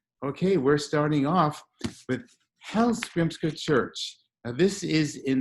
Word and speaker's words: Hallgrímskirkja: Also, as I told you, the name of the church is Hallgrímskirkja. But it's spelled Hallgrímskrka. So that doesn't help you at all, does it? But I've been practicing Hallgrímskirkja.